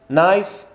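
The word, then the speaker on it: knife: عندي جاي نايف سكين، سكين قولوا نايف، ويني هنا يا جاي؟ هاي جاي نايف، حط هنا الكاي، الكاي قلنا سايلنت، الكات فيها سيلونسيو ما تنطقوهاش، سايلنت.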